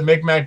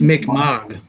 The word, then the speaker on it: Mi'kmaq: I mean, they don't, like, blow up the Micmac burial ground at the end of the second one or anything. Like, I don't know why. I'm guessing because of it's pronounced Mi'kmaq.